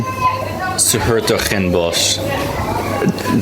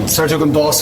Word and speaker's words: Hertogenbosch: Dan, how do you pronounce this town? Where are we, Dan? Hertogenbosch.